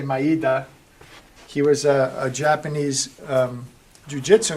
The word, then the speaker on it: Maeda: And because of that, one of the people whose name, it's pronounced many different ways. I say Maeda.